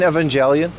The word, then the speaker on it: Evangelion: I mean, I've seen Evangelion. Yes, that's how you pronounce it.